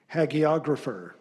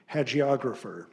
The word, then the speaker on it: hagiographer: Your word is haggiographer. Hagographer. Alternate pronunciation. Hagiographer.